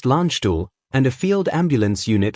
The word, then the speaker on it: Landstuhl: Supported by a critical care air transport team, known as CCAT-T, from Landstuhl Regional Medical Center, pronounced Landstuhl, and a field ambulance unit from the U.S.